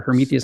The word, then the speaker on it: Hermetheus: So that's our Hermetheus coffee. Spell it out for us.